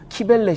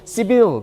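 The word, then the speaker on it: Cybele: 키벨레 신. 예, 미국 사람들은 시빌 그렇게 얘기하는데 발음이 영 듣기 거북하죠. 그래서 그냥 키벨레, 우리말로. 그 키벨레라는 여신은 말하자면 그 모든 풍요와 이 소산과 물질적인 축복과 이런 거를 주관하는 신이에요.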